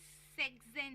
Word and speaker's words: sechzehn: सकते हैं कि अभी सेक्सेन है, तो नॉर्मली हम सेक्स को SECHS प्रोनाउंस करते हैं, बट जब सेक्सेन प्रोनाउंस करते हैं तो वो SECHZEHN, तो हम वहाँ पे S हटा रहे हैं।